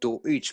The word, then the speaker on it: Deutsch: Remember, the word, it says here that both the terms are reference to the word Deutsch, pronounced Deutsch, meaning German. Deutsch.